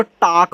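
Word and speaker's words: talk: तो याद रखना जब भी ए के बाद एल आए और एल के बाद के आ जाए तो यहां एल आपका साइलेंट रहता है।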